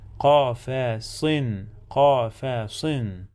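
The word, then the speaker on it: قفصٍ: Fi qafasin tanween bil kasra. We must add the sound of noon to the end of the word. qafasin.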